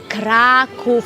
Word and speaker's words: Kraków: beautiful city is called Krakow yes but be careful how you say it it's Krakus yes Krakow in Poland I'm I